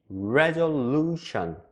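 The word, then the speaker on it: resolution: 다 알아듣고 다 똑같아요 그런데 영어는 약간 리듬감이 있고 강하게 발음되는 부분들이 있어요 그래서 레졸루션 레졸루션 이게 아니라 이렇게 강하게 발음되는 부분이 있다라는 것을 참고로 알아두시고요 그리고 이렇게 리듬감을 살려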